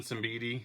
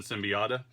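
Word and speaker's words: Siembieda: Of course, it's by Kevin Simbidi, which the whole time I was growing up I called him Kevin Symbiota. But I've now learned, thanks to YouTube, that is the incorrect pronunciation of the man's name.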